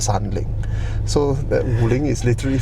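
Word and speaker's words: 三菱: But when Chinese read, they don't call it Mitsubishi, they call it Sanling.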